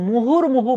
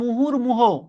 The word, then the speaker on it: মুহুর্মুহু: এই মানে এখানকার বানানগুলোর মধ্যে মুহুর্মুহু বানানটা ঠিক। অনেকে বলে মুহুর্মুহ, এই জন্য কিন্তু বানানটা তারা ভুল করে। আসলে শব্দটা হচ্ছে মুহুর্মুহু, রস্যুকার এবং রস্যুকার। Thank you.